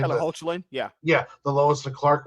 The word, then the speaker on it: Hoechlin: Tyler Hoechlin, yeah, the Lois and Clark one.